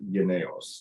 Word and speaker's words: Jynneos: And apparently the actual pronunciation is Jynneos. That is the Danish pronunciation of vaccine, I'm told.